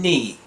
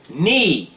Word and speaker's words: knee: When the letters KN are together in a word, the K is silent as in knee and knife. K と N 2つ並んだ文字が単語の中にあるとき、K は発音しません。 Let's begin. KN is N. Knee.